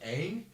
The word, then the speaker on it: Aang: When I was They younger, can't even pronounce the what? Aang? yeah, they call him Ong.